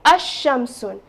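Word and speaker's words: الشمس: so I will say Asam now you notice that lamb here lamb remains silent lamb here is a silent letter so therefore I will not pronounce lamb so in Sun you're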